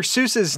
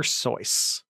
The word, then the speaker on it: Seuss: with voice dr seuss's last name actually rhymes with voice dr soyuz now if you want